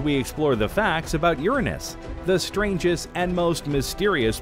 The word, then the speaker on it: Uranus: Because the technical way that you're supposed to say it is Uranus. However, most people don't pronounce it that way, and thus the jokes